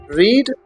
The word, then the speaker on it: read: रेड ये verb है, रीड verb होता है जिसकी फर्स्ट फॉर्म रीड होती है, सेकंड फॉर्म रेड और रेड पढ़ी जाती है लेकिन स्पेलिंग उसकी सेम होती है। तो ये रेड है, स्पेलिंग सेम है लेकिन तलफ़ुज़ इसका पास्ट में रेड पढ़ेंगे और इसका मतलब है पढ़ी।